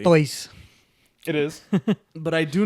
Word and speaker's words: Artois: We are drinking Stella Artois. Okay. I don't even know if that's how you say it correctly. Artois.